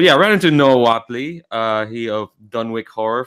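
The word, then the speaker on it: Whateley: we go all right i've been pronouncing what haley for most of my life that's probably incredibly wrong but yeah i ran into noah watley uh he of dunwick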